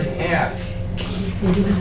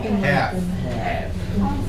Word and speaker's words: half: something you make something that word half notice that it's LF it's a silent L half don't try to put an L in there it won't work H doesn't work half uh do we all